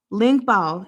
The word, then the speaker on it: Ling Bao: Ling Bao is how you say that.